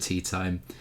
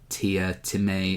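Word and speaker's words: Teatime: Um, they hire an assassin called Mr. Tea Time. Um, or Tia Timmy or something like that. He he wants to pronounce it differently, but it's written tea time.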